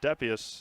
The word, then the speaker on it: Depius: Ryder's last name is Depius, as the PA guy has the last word. He gets the correct pronunciations.